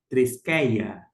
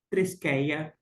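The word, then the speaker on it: θρησκεία: está justamente destacada e no grego coin com a pronúncia erasmiana é feita a leitura da seguinte maneira tresia tresia religião esta religião é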